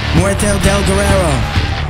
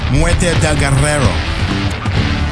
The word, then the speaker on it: Muerte del Guerrero: Muerte del Guerrero. No, you're not saying it right. It's Muerte del Guerrero.